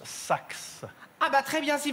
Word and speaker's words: Sache: Présent, madame, mais je suis désolée, ça se prononce Sax.